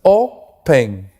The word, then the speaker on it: open: Open tiene 2 sílabas, open. Termina en consonante, vocal, consonante, ¿te das cuenta? Pero la mayor fuerza, ¿dónde está? En la primera sílaba, adelante. Open. Yo no digo open, ¿te das cuenta?